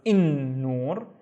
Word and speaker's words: النور: However, we don't pronounce it as il, we pronounce it as النور because na is one of the sun letters.